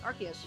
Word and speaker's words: Arceus: How do you pronounce uh Arceus? Arceus.